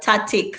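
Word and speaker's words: tacit: Tatic. So that C in the middle is the C in the middle is silent when we say tatic, but then when we say tactical, we pronounce the C.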